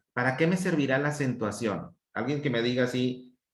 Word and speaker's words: acentuación: Entonces, ¿en qué sílaba estuvo la mayor intensidad del volumen? Acentuación. En ción, de hecho, porque el tilde está en la vocal O.